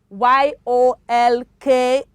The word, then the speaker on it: yolk: it is not shield the l is what is silent y-o-l-k is york yolk of egg right yolk c-o-l-d